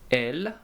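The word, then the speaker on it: elles: males and we have L which is they for females and they have an S at the end but we do not pronounce them so I repeat v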